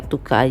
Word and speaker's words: Tuca: Tuka atau Tuca ya, bacanya mungkin ya Tuka aja lah, Tuka Trade.